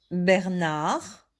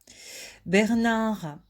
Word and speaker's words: Bernard: Bernard. Donc, vous voyez ici D, mais ça ne se prononce pas. Bernard est à l'hôpital.